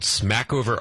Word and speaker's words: Smackover: little town uh called Smackover Arkansas it was a sumac cover uh it was a French name and uh no one could pronounce it so they just ran it all together and and the battling